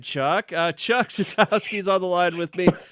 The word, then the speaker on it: Zukowski: And Chuck Zukowski, am I saying it right?